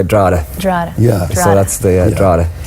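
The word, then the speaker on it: Drogheda: do you say it drada I like the way you say well if you're if you're in my hometown you'd say dra dra yeah so that's the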